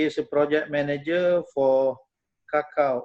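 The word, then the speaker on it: cacao: a project manager for kakao or in malaysia we pronounce it as coco maybe the same in indonesia coco conservation at klingkumang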